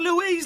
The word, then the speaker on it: Louise: that's Louie there's got because Louise is such a great name Louise Lou you can make people chanting it's two syllables it's a very popular